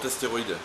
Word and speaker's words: Asteroid: voici l'astéroïde, c'est comme ça qu'on prononce. Oui, le Parrot astéroïde.